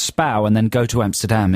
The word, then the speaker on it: Spui: It's pronounced Spau. Spow. It's spelt Spui, so, you know, to know that it's pronounced Spau and then go to Amsterdam is kind of useless because you'll never find it.